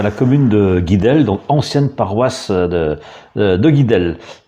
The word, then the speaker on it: Guidel: Alors la prononciation en breton actuellement c'est Duidel. C'est donc avec l'accent typique du bas vantais, donc qui peut être placé sur la syllabe initiale, donc Duidel en breton.